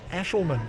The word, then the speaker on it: Aeschlimann: has a lot of fun getting people to pronounce correctly. I'm going to have a go. Mark Aeschlimann.